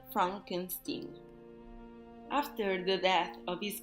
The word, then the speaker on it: Frankenstein: himself from his legacy Frederick insist that his her name be pronounced Frankenstein after the death of